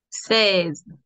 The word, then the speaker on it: seize: Seize. Seize. Seize. Seize. No vayas a pronunciar la I, ¿ya? De frente, con la E.